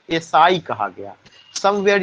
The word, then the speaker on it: essai: और मॉन्टेन ने जो एसे लिखा उसको फ्रेंच में एसाई कहा गया। समवेयर यू फाइंड उसका स्पेलिंग होता है ASSAI, कहीं कहीं पे उसका स्पेलिंग क्या मिलेगा?